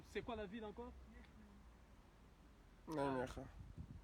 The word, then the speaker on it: Nijmegen: Nijmegen. Nijmegen. Nijmegen. C'est difficile à prononcer, mais ça s'écrit Nijmegen.